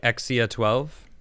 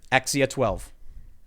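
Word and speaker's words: X Æ A-12: The A and the E symbol, I was reading about it, is apparently been pronounced as I or A or E, whatever. I've mostly heard it pronounced as E, right?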